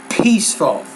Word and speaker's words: peaceful: down some things here the P the P consonant sound you're not pronouncing that you're saying bespoke peaceful and beautiful but it's peaceful think of it like this what's it peaceful peaceful so you're not putting enough air out I think in your pronunciation with that I see it